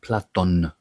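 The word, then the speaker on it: Πλάτων: a work written by Plato, but Platon we say in Greek with an N, hence the word platonic with an N.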